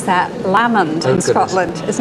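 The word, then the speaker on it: Lamond: tell me where this lovely picture by William lemond uh is right well actually we pronounce that lammond in Scotland is not so I've got off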